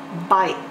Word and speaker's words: bike: hear the silent e the E makes the I say its name but I bike I like with the silent e I ke bike good job the